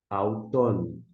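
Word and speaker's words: αὐτόν: Há um ditongo, alfa com Y, a gente pronuncia au. E na sequência, nós temos ton, auton. Auton é, portanto, a pronúncia.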